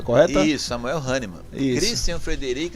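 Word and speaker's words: Hahnemann: É essa a pronúncia correta? Isso. Samuel Haniman.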